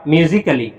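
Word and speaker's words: musically: दूसरा कंडीशन देखा कि ए के तुरंत बाद डबल एल वाई आता है। क्या आता है बेटा? डबल एल वाई तो उस समय भी ए साइलेंट रहता है। जैसे एम यू एस आई सी A double L Y double L double L वाई इसको क्या पढ़ा जाएगा?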